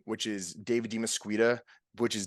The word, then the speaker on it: DeMesquita: platforms are my actual name which is David dimasqueta which is d e and then it's spelled like mosquito with an a at the